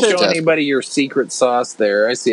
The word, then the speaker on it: SOS: That SOS or sauce system, as I believe you're supposed to pronounce it, was pretty sophisticated for its day.